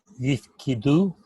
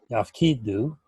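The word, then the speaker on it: יַפְקִידוּ: Yifkidu. Yifkidu. But the vowel in the first syllable though is a. Oh, yaf. Mm-hmm. Yafkidu.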